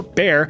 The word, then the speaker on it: Bayer: BA or more commonly pronounced Bayer or Bear decided to take a stab in the lab to produce something fab.